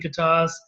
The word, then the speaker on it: Gatosk: our sub team within gasas with the silent k and I think our